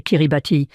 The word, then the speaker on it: Kiribati: Cela ressemble à Ti mais le ti se prononce comme un s. Donc c'est Kiribati.